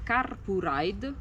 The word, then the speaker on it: Carpuride: Allora, questa autoradio si chiama intanto, è della Carpool Ride, che si scrive Carpuride, ma comunque in descrizione metterò tutto, V903.